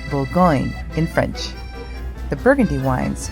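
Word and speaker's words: Bourgogne: Todd and I wanted to take a wine tour, so my father suggested the world famous wineries of Burgundy, pronounced Bulgo in French.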